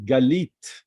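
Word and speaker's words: גלית: lucky God God okay and then we have galit another word this is ghee email all right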